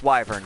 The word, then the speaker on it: wyvern: that one that one it's spelled with a Y you pronounce the Y its wyvern goddamn it oh well